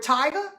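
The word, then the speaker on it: Tiger: And then I have Let's Go Cook with Tyga. It's T-I-G-E-R. I know I say it weird, but that's how it's spelled.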